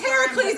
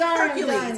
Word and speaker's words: Heracles: That's not When- the Greek pronunciation. I know, it's Heracles. I don't give a shit. It's Hercules, okay?